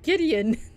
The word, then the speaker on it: Gideon: You can't pronounce your brother's name right. It's Gideon.